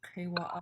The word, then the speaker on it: kewa'a: And then just remember this kewa'a is a underlying K. Yeah, you pronounce it in the back of your throat. So repeat this word kewa'a.